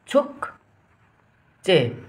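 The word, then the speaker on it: 축제: तरिकाले उच्चारण गरौँ है त छमा छु भयो यो क भयो आदि क छुक भयो चे भयो चमा ए चे भयो यसको उच्चारण के भयो त छुक्चे भयो है त छुक्चे भनेको के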